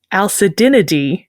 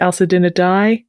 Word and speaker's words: Alcedinidae: It's spelled like acidinidae. I think sometimes it's pronounced alcedinidae. It's got the AE ending, so the pronunciation varies.